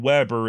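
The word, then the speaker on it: Webber: is Weber w-e-b-b-e-r and Weber is how his modern descendants pronounce it the german-born Weber however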